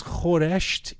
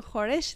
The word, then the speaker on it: khoresht: But is khoresht easier to say than khoresh? Like if the argument is we're saying the easier thing, it's not easier. It's just what we're used to.